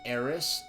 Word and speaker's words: Aris: or Aris I like Aries better than aith but it's supposed to be pronounced like Aris rather than Aries so I like aith